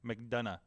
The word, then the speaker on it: McDonough: McDonough. JD McDonough. It's like Triple H saying done.